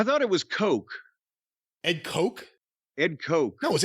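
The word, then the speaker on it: Koch: the right wing industrialist no they're the Coke brothers it's spelled the same way it's spelled the same way one's or one's Coke and one's cootch there's no [ __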